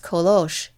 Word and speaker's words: Colosse: jacques sir named colosse which in auvern is pronounced kolosh this very morning they